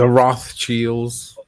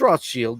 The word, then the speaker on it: Rothschild: No, it's Rothschild. That's correct. That's the correct way to say Baron Philippe de Rothschild. That's correct. You know, it's just Americanization of that.